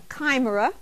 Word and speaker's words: chimera: Drilling offshore is a chimera. Did I pronounce it Chimera.